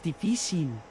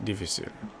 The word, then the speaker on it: difícil: Difícil with the accent on the... Difícil. Right, that accent I'm remembering now. The accent in Spanish decides where the... I think it's for... If the emphasis is on a syllable where it wouldn't normally be.